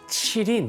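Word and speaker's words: 麒麟: 동아프리카에서이 동물 기린이 있고요 중국인들은이 발음을 치린 이렇게 발음을 합니다 아주 비슷하게 들렸죠 린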